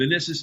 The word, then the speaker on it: Minisis: And Minisis is spelled M-I-N-I-S-I-S, like man ISIS.